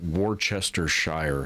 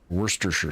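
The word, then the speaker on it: Worcestershire: I don't know where all the other syllables in that word go cuz it's it's spelled something like Warchester Shire sauce, but it's pronounced worstersher sauce.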